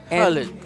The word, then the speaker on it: Khalid: Yeah, Khalid. And the pronunciation is, he was trying to teach me the pronunciation. It's not the way that we usually say it. It's like a Khalid.